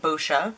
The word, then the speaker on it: Boscia: That's how you say it, Boscia. I know everyone gets confused, but that's it.